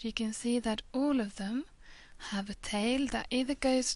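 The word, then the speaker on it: ح: Ha is pronounced as H, but a bit more heavier than we're used to pronounce it, further down from the lungs.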